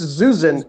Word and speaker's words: Zyuzin: It's Zyuzin.